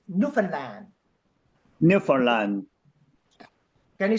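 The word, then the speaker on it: Newfoundland: you are secure with your answer okay D Nan land and the pronunciation is Nan Land Orlando can you say Newland Newland can you say Nova Scotia Nova scottia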